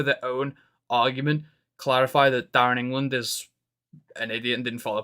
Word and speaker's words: Darren England: decision so if somehow Darren English um Darren England um I've just realized I was saying his name wrong before if they're in